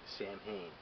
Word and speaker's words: Samhain: And it's actually, for most of it, Samhain.